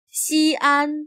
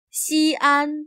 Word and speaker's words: 西安: 西安 became the capital of China a few centuries before the Common Era, under the first emperor of China. Notice that the X is pronounced as sh.